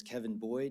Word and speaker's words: Kevin Boyd: My name is Kevin Boyd, and I'm the PIO with the Goodyear Fire Department. That's spelled Kevinboyd.